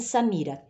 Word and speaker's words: Samira: Quantas sílabas tem Samira? 3. Samira. Ó, o mi é a sílaba tônica. É a parte que você pronuncia com mais força.